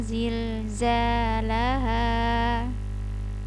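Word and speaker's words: زِلْزَالَهَا: Kemudian ketemu lagi huruf za, zil, zalaha, zilzalaha. Jadi huruf za ini banyak banget, sangat banyak anginnya dan desisnya. Jadi perhatikan dengan baik, karena sering anak-anak itu dibacanya hurufnya yang menjadi jim semua, ija, jul, atau iza, atau yang huruf za ini menjadi z, iza. Kemudian ija menjadi jim, iza jul, atau ija zul, begitu ya.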